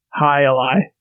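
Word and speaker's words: jai alai: you go man okay it's spelled j-a-i-a-l-a-i so gylai but the j is like an h sound highlight yeah instead of hi i don't know i don't see a little pronunciation thing oh wait there's a wikipedia usually has one high lie right yeah yeah that's right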